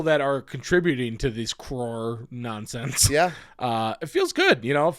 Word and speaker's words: crore: say it because yeah it looks like craw craw crore roar yeah it's like when